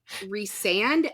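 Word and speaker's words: Rhysand: of Thorns and Roses, I was pronouncing Rysand as Rysand. Because that's how it's Rysand. That's how I would have said it. Because it has RHY. That's how you say that.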